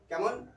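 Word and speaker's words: calm: English silent Elna हो silent L एल सेत्र उच्चारण करा हो ना कैमन ए एल एम S arms B ए एल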